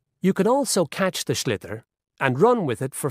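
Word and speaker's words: sliotar: And basically, you have to get this ball, called a schlitter, that's S-L-I-O-T-A-R, so it's not spelt the way it's pronounced.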